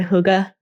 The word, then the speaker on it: hygge: It kind of makes me think of, have you heard of that Danish word hygge? It's spelled Hygge.